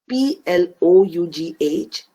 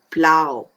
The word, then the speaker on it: plough: on this page is p l o u g h plough here o u g h sounds like ow so the word plough rhymes with how now that we know